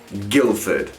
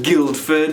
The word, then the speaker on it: Guildford: do not know guilford you see that d in the middle of it you don't say it you don't read it you don't pronounce it it doesn't even exist it's guilford not guildford and not guild forward